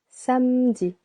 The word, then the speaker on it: samedi: Samedi, samedi, 2 syllables. The first one is a little longer.